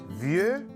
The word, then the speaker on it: vieux: Vieux a un X qui ne se prononce pas.